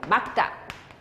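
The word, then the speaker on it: 맑다: 막다. 막다, 막다, 막다. 리을 기억은 기억으로 하기로 돼 있어요.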